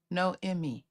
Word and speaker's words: Naomi: how you say it I really think so no Emy because no Emy no Emy I like that that's pretty I like that okay my bad sorry I got it now no Emy ma'am good morning T